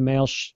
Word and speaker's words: male: gender he is a male uh she is a female so male and then I'm going to male you a letter or send you an email uh they're pronounced exactly the same mail right right okay hello